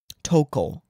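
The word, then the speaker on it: Touko: Is it Toka or Toko?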